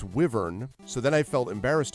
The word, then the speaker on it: wyvern: on this of wyver I thought it was Wy V RN is wyvern like the letter Y then people were like no it's wyvern so then I felt